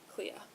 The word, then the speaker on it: Clea: do anything to keep clay or clee clea like as in cleopatra from winning including the